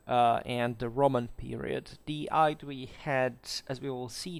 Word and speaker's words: Aedui: Hello everyone, today we talk about the Aedui, or the Aedui if you prefer.